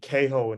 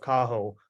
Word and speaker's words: Kahoe: name they would say they would mispronounce it and call me keho instead of kahoe which is you know